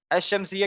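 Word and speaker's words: الشمسية: क्यों इसको अश-शम्सिया पढ़ा? इसमें बीच में मैंने लाम भी तो लिखा है. हाँ अश-शम्सिया क्यों पढ़ा? लाम साइलेंट है.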